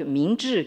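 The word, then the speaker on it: 明治: Meiji se prononce en chinois donc Mingzhi, qui veut dire donc Ming, c'est la lumière.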